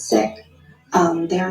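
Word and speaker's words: Sikh: being one of them some people pronounce it seek but it's sick um they are not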